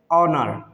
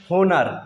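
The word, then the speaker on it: honour: जैसे ऑनर, क्या पढ़ते हैं? ऑनर। कुछ लोग इसको पढ़ते हैं होनर, जो कि बिल्कुल गलत साउंड है।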